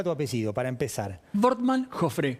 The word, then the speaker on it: Wortmann Joffre: Wortmann Joffre, como si fuera B corta.